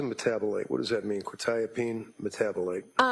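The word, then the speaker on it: quetiapine: probably mispronouncing this quetapene. Uh quitapene.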